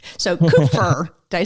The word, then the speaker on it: Kupfer: how do I say your last name so coofer did I say it right yep perfect well